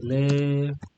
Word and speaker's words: elle est: And you should do the liaison whenever it's possible. For example, here you say vous êtes, yeah, vous êtes. And here you say il est, elle est, yeah. So basically, you push over the last consonant.